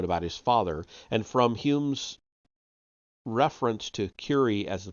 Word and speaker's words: Home: This can be seen clearly in the case of Daniel Douglas Home, pronounced Hume. Okay, H-O-M-E, but it's pronounced Hume. Okay, fine. Daniel Douglas, D-U-N-G-L-A-S. Daniel Douglas Hume, perhaps the most remarkable and convincing medium who has so far appeared.